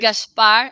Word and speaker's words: Gaspar: Gaspar. I'm just saying it. It's pronounced with an H in there just to confuse English people, English-speaking people, even more.